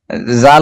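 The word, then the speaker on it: ذال: কিন্তু উচ্চারণে হচ্ছে দাল হচ্ছে স্বাভাবিকভাবে উচ্চারণ হবে দাল, আর হচ্ছে জাল হচ্ছে নরম হবে, যেটার আগা সামনে থাকবে। মোস্তফা যে লেখার সময় আর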